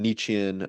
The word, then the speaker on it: Nietzschean: about Jordan Peterson, but there's definitely there's some Nietzschean, I believe that that's how you pronounce it, Nietzschean kind of aspects to his beliefs, things like that, of like will to power, like Mm.